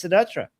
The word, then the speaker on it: Siddhartha: So I think the American pronunciation is Siddhartha. But it's not an American name. It's an Indian name, and Indian people would say Siddharth, which is it's intense for like an American to say.